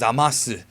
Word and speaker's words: Zamasu: Lord beerus this is zamasu guy anyways I noticed that the way that Goku pronounces it is zamasu which means that when it gets dubbed his name may change to zamas just letting you guys